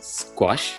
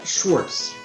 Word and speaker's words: Schwarz: Is it Jason Squash? Schwarz. Schwarz. Correct.